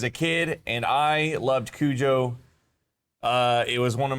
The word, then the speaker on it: Cujo: Uh I think Stephen King originally was supposed to be pronounced cuho or something like that. It was supposed to be pronounced differently. Okay. But then the movie came out and they called him Kujo. And even Stephen King's like, "Yeah, his name's Kujo now."